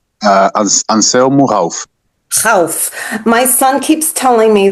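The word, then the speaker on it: Anselmo Ralph: Can somebody pronounce it for me? Uh, anelmo. Hal. My son keeps telling me that I pronounce it incorrectly because I say Anelmu Ralph and he says, "No, no, no, no.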